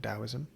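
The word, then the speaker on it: Taoism: of confucious Confucianism uh dosm uh spelled with a t t the to dosm um an Indian religion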